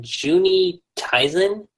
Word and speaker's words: Juni Taisen: So for number 4, this is gonna be kind of interesting, but Juni Taisen. That's how you say it.